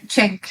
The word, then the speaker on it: Cenk: Cenk, yeah.